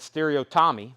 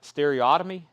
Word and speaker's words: Stereotomy: Stereo, I've always said Stereo Tommy, but Stereotomy, I've heard someone pronounce it that way too.